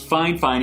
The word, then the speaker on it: Fifine: about a budget Mike called fine fine it's pronounced fine fine even though it is filled fi fi Amy